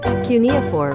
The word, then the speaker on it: cuneiform: How do you pronounce that? Cuneiform.